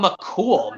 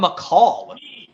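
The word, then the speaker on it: McColl: in the cold Barn James incorrectly says Pharma McCool not Pharma McCall mispronouncing he's gonna say seriously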